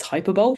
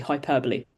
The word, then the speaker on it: hyperbole: Not that you'll be tested in your pronunciation, but I do hear some people say it's hyperbole. It's actually hyperbole.